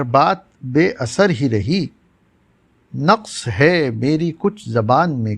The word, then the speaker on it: نقص: میں حاضر ہے، اور آج کا لفظ نقص ہے جو درست ہے۔ عام طور سے نقص بولا جاتا ہے جو غلط ہے۔ اس کے معنی ہیں